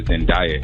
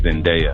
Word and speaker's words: Zendaya: He called her Zendaya. It's Zendaya. Zendaya, like the actress.